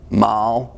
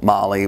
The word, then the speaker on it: MAHLE: today we're looking at Mal Molly Mala depends on where you are how you pronounce that we're looking at their